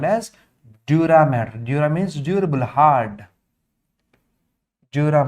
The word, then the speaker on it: dura mater: Observe the spelling, it's not matter, it's mater. Mater means mother, maternal, paternal. That was the spelling, not matter, pia mater, dura mater.